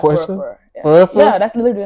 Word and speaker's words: Porsche: Yeah, that's how you pronounce it. A like, Porsche?